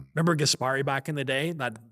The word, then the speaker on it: Gaspari: By the way, you're saying it like uh not in the New Jersey way. So you said Gaspari. Yeah. How do you say it? So if you're gonna say it in it in its original New Jersey ease, it's it's it's not it's it's Richie Gasperi.